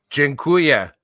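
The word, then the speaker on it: dziękuję: space for a combo jinkuya is how you say thank you in polish so i'll say to you aldo from from my heart to yours jengkuya thank you it's not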